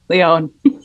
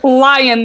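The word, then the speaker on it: Lyon: i was talking about a place in france that i now understand is pronounced leon but i said lion the entire time and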